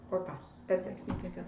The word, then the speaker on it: Orpah: It's not Oprah, it's like Orpah. Orpah.